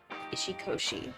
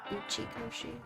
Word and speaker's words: Uchikoshi: And we're going to go on, like, a huge Ishikoshi, I think is how you say his name? Jin Ishikoshi? Uchikoshi?